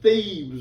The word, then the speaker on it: Thebes: Now, that's not thieves like someone breaking into your house. That's Thebes with a B. I got to make myself pronounce the B.